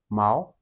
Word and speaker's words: 矛: Mao. This is the second tone. Mao.